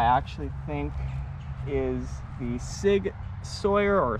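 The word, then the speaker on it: Sauer: next up i actually think is the sig sawyer or saw depending how you pronounce it mcx virtus replica this is a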